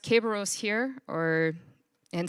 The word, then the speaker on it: Kerberos: guards the underworld in roman mythology and it's pronounced caberos here or and spelled with the k just